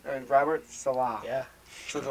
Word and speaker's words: Saleh: And my favorite guy at the defensive coordinator, I wish I could say his name, Robert Salah. Yeah. Something like that. It's Robert Saleh.